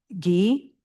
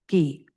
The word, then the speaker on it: gi: Gi, the final I is the ee sound. Gi.